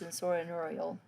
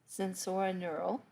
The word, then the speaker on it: sensorineural: neural so basically it's nerve deafness this is pronounced sensorineural sensorineural try saying that three times this is where